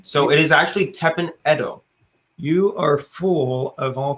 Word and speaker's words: Edo: let's finish that first we've been mispronouncing tepen edo the entire time when people prefer to that period of time it is the edo period the edo period see the edo period in japan so it is actually